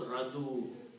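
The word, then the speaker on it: رضوا: So what happens for the pronunciation, we just drop this ya altogether. Take it out. Okay? So it is easy to pronounce radu. Nicer radiyau, radu. Okay, so that's the word in the Quran. The sound of waw comes here, radu.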